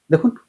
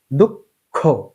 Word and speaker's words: দুঃখ: দুইবার উচ্চারণ করার সময় প্রথমে অল্পপ্রাণ হবে পরে মহাপ্রাণ হবে। এভাবে উচ্চারণ করতে হয়। কেননা ক অল্পপ্রাণ খ মহাপ্রাণ। দেখুন খ এর উচ্চারণ যখন